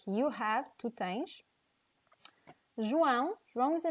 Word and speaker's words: João: So one of the tricks that I think is one of the best tricks to learn how to pronounce João is to imitate the sound of a high-speed car.